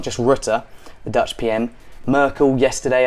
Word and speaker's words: Rutte: And even today, the leaders of one of these countries, the Dutch Prime Minister Rutte, I think you say his name Rutte, he said he is